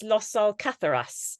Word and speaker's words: Los Alcázares: In I think it's Los Alcázares. Is it? I mispronounced this.